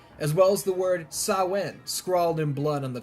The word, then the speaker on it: Samhain: well as the word sawin scrawled in blood on the chalkboard loomis mispronounces it throughout the whole ordeal samhain but i assure you it's sauwen michael finds his way